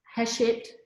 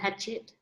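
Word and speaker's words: Hachette: really appreciate that um hashit well i just learned how to say it properly i'm saying you know real bogue and i was calling them hatchet i think i did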